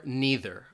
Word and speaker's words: neither: Again, these are either or neither. All right, so there's two different ways, either or neither, or you might hear some people say either or neither.